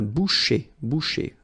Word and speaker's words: boucher: C-H, un boucher. So I tend to insist a little bit, but then it goes like un boucher.